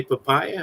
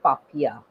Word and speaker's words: Papia: for joining us today papaya how are you doing i'm fine my name is pronounced as papiya papiya sorry papaya is a fruit speaking speaking of fruity